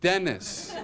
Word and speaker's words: Dennis: I said, it's pronounced Dennis.